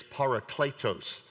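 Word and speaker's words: παράκλητος: Comes from the Wits, our English pronunciation, American pronunciation. It's parakletos.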